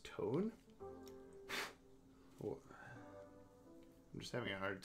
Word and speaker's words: Tone: comic is short um okay tone this is pronounced tony slovene masculine given name okay is it pronounced tone i'm just having a hard time understanding why